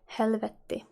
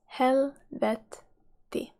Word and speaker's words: helvetti: Hell in Finnish is helvetti. Helvetti. Helvetti. Here there's two T's at the end. You need to pronounce both of them. It's like vetti. Helvetti.